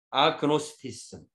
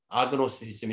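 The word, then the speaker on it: agnosticism: 있기 때문에 라고 불가지론 아그노스티즘. 예. 이게 이제 그 아자를 빼면은 그노스티즘이라고 발음하지 않고 나스티즘 이렇게 발음해요. GN이 붙으면 이 G자가 이제 묵음이 되잖아요. 근데 앞에 A자가 붙었기 때문에 아그노스티즘 이렇게 될 거예요.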